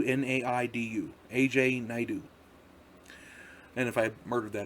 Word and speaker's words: Naidu: It's AJ Naidu, Naidu. AJ Naidu.